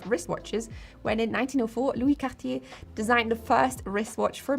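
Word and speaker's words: Cartier: Though the first syllable looks a lot like the word car, try to refrain from going all in on the car or car sound and use the back of your tongue to create the car sound with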